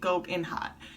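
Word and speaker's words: Gold'n Hot: Like, Gold Hot, well, it's Gold in Hot. That's how you say it, Gold in Hot. Golden Hot is it.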